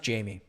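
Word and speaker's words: Jaime: but I mean in in Spanish I think it would be haime uh it's pronounced Jamie can I value bet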